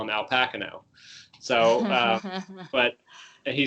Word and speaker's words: Pacino: Or, as Al Pacino used to say, everyone in Hollywood before The Godfather used to mispronounce his name. They used to call him Al Pacino.